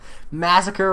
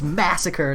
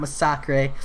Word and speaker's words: Massacre: Nah, you pronounced Massacre right the first time. Nah, John Garcia, it's Massacre, not Massacre. I listened to too much KT1.